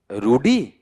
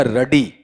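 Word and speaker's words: ruddy: फिर अगला बताओ क्या है आपका वहां पर, रूडी या रडी, रडी।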